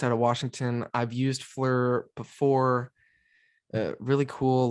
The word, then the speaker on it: FLIR: Oh, it's a fleur. It's a Fleur. fleur. Is Yeah. that what you're supposed to say? Yeah, it's fleur.